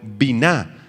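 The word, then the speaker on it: בינה: Esta palabra comprender proviene del hebreo biná, con B grande y acento en la A.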